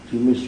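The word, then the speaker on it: دمشق: maksudnya bikasri Dal wa kasril mim aidon jadi bacanya berarti gimana di misishqo itu hanya soal nama saja di misishqo di mishq itu di damaskus di Syria jadi kota damaskus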